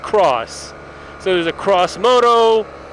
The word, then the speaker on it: G650X: They replaced it with 3 cross models or X models, G650X models, that are usually by the people who are in the know pronounced cross.